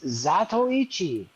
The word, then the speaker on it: Zatoichi: It's Zatoichi. That's it. No hate in my heart for you. It's just that's how you say it.